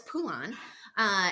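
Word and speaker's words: Phulan: sister right and that's how we pronounce her name if you didn't know it's pool on and since you're listening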